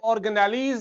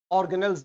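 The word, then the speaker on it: organelles: ये ऑर्गेनेलीज नहीं है, इसे आप ऑर्गेनेल्स बोलते हैं। ठीक है, ऑर्गन से निकला है।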